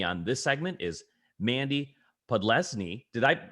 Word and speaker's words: Podlesny: Joining me on this segment is Mandy Podlesny. How did I pronounce that?